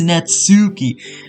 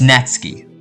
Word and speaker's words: Natsuki: And before you guys comment, oh, it's not Natsuki, it's Natsuki. Search it up. It's Natsuki. Alright? That's how you pronounce it.